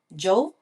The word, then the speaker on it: Djo: Oo DJ but it's spelled as djo Joe Oh I'm not aware